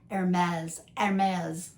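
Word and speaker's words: Hermès: H, you don't pronounce, but the ER, it's not or her, it's like air, like the air you breathe. Hermes.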